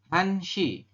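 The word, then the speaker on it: 한 시: Kalau jam 1 seperti ini, ya, maka pembacanya adalah, ini tulisannya begini. 1 shi, maka kita bacanya han shi. Ya, untuk jam dibaca menggunakan bilangan asli Korea ya, yang dari hana sampai dengan yol ya.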